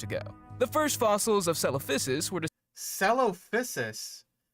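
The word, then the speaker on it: Coelophysis: The first fossils of celophysis were copysis. You even got it with the proper like soft C pronunciation, but it's cuz it's not caloposis like I've heard some people try to pronounce.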